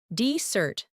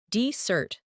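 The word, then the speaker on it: desert: Decert, noun, versus decert, verb.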